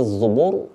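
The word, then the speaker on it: الزُّبُر: ada tafkhim ada tarqik yang Fiz zuubur dibaca tebal kalau yang Muntasir dibaca tipis karena sebelum huruf ro itu terdapat huruf berbaris kasrah itu kenapa kita bacanya Muntasir Ir tipis nah gitu yaah bisa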